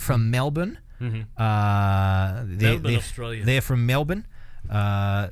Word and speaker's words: Melbourne: Uh, they're from Melbourne. Uh, make sure you don't pronounce the R very strongly.